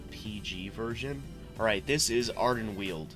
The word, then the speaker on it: Ardenweald: Alright, this is Ardenweald. Pronounced Ardenweald.